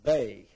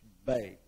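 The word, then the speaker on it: bez: And then these are called the bay. Uh is spelled be z, but it's pronounced bay.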